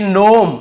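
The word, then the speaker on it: gnome: पर भीजी सेलेंट है यहां पर देखिए नोम यहां पे जी लिखा हुआ है सामने लेकिन हमें केवल इसे नोम पढ़ना है जी को नहीं पढ़ना है ये है आपका जी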